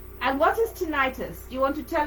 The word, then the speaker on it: tinnitus: you so we want to release that condition tiny titus no yeah tinnitus is that tinnitus i can never pronounce them right now do here vertigo